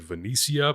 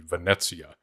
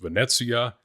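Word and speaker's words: Venezia: of the planet wrong, which means I also pronounced the name of the uh Janiseries or the mercenaries wrong. Later on, I said Venicia, but it really should be Vanetsia.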